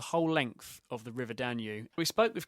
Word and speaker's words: Danube: N were talking earlier is that how you pronounce it danu yeah Dan that's right we got it's spel it's spelled with a B isn't it so you get quite confused with it yeah that's right um